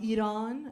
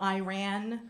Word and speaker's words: Iran: It's my dad who's from Iran. That's how you pronounce it. Not Iran. I never run.